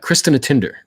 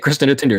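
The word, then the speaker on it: Kristínartindar: mountain climb was on Cristina tinder yeah that is pretty much how you say it Cristina tinder it's very phonetic unlike some other Icelandic language words and it's at about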